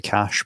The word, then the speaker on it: Akash: I keep saying Akash just because I'm pronouncing it the English way.